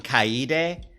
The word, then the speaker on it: Kaede: DRV3 Kaede. Kaede. I was thinking Kaede, but it's Kaede.